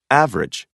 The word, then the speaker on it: average: a listen and practice the vowel immediately after a stressed syllable is sometimes not pronounced average different separate comfortable interesting